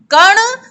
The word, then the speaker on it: कण: यही कण सड़कर, ये देखो ण और ड़ में अंतर उच्चारण में, ण कण और सड़कर, सड़कर अंतर है ना बच्चों, तो दांतों को खराब कर देते हैं।